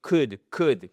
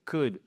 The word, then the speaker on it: could: You could could. Le, on ne le prononce pas.